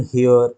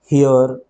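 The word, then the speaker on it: heir: যেমন an hour, an honest man, অ্যান হেয়ার, হেয়ার মানে হচ্ছে উত্তরাধিকারী, অ্যান অনার। তুমি দেখো প্রত্যেকেরই শুরুতে এইচ রয়েছে, এইচ রয়েছে, কিন্তু এদের কারোরই এইচের উচ্চারণই নেই। আওয়ার, অনেস্ট, হেয়ার, অনার, তাই না?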